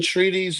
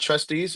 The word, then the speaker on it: treatise: States per se I think that's how you pronounce it. It's or trustees. TREA. No. It's not trustees. It's all right. So let me treatise.